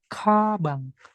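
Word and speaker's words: 가방: Dibacanya kabang. K, giok di depan. Ingat, dibaca KH ya, bukan G.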